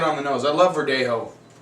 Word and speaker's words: Verdelho: and this is a Verdelho, which, Verdelho is a grape they do a lot in Spain. They do some in Australia. There they call it Verdelho because they pronounce the L.